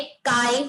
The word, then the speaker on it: chi: Topic का नाम है काई स्क्वायर. भले हम स्पेलिंग CHI लिख रहे हैं, बट as this is a Greek letter, it is pronounced as काई, नॉट ची या चाय.